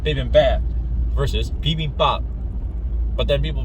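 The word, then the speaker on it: 비빔밥: my native tongue and accent, I would say bibimbap, like bibimbap. Mixed rice, but, you know, if you write it down phonetically in English and have people pronounce it,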